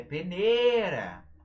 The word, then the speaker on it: peneira: Ó, peneira, por exemplo, não tem acento. Mas você precisa saber onde que fica a sílaba tônica dela. É peneira!